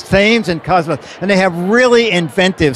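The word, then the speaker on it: Thames & Kosmos: No, it's Thames and Cosmos.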